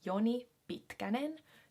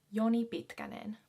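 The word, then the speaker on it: Joni Pitkänen: we have a very finished sounding name so yoni bitkanen yoni is another very common finnish male name yoni yoni yoni bhitganen bitkanen is a semi popular last name i guess at least i've heard it yoni bitkanen bitka means long so it's basically like yoni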